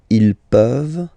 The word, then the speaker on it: peuvent: Je peux, tu peux, il peut, elle peut, nous pouvons, vous pouvez, ils peuvent, elles peuvent. Okay, as usual, this ending, this ENT ending, you write it, you don't pronounce it.